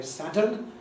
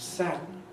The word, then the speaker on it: sadden: Similarly in sadden, some people do say sadden, but contrary to the orthography, I would recommend sadden.